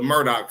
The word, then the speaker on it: Murdaugh: Thought I was pronouncing this wrong, too, but it's actually the Murdoch family, but not can be not to be confused with this Murdoch family.